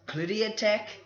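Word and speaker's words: Clindatech: this other stuff called cloudy attack sounds like chlamydia but it's not it's spelled c-l-i-n-d-a-t-e-c-h this is a uh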